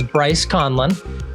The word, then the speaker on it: Bryce Conlan: Bryce, did I pronounce it right? Yes. So my name is Bryce Conlan.